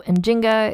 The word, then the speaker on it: Njinga: write her name with many different spellings so in Jinga is the pronunciation that I'm using it's what was used